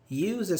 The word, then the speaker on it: uses: So Z or S? Z. Z.